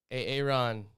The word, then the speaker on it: Arin: It's your boy, Aaron. Aaron. Sure, it's spelled A-R-I-N, so it doesn't really work.